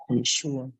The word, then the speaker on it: Yeshua: sini kemudian yang berikutnya jadi yesua tulisannya ye e s h u a itu adalah cara pengucapan Oh pronounciation kalau gak